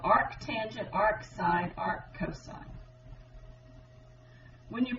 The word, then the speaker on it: arctangent: The more proper way to say is arctangent. Please don't say tan to the -1.